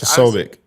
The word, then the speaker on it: Posobiec: So Jack Posobiec, how do you pronounce it, Cash? Posobiec.